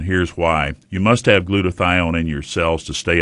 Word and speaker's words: glutathione: glutathione in your body glutathione doctor what is glutathione am I pronouncing it right oh that's exactly okay good